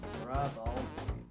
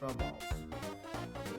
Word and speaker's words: Rubble: My name's Rubble. Not pronounced as Rubbles.